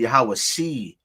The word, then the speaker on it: Yahawashi: Using a cherek under the ayin would not make a I sound. It would make a E, so it would be Yahawashi.